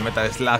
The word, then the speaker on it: Metal Slug: El escenario de Metal Slug de fondo, sí, se pronuncia en Metal Slug, ¿vale? Para quien quiera saberlo. Que vi el otro día que me dijeron, ah, Jin, es Metal Slug, se dice Metal Slug. No, no se dice Metal Slug. Metal Slug se escribe, amigo. Aprende inglés.